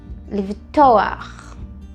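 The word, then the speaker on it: לבטוח: Livtoar. Livtoar, né? O to é a sílaba mais forte.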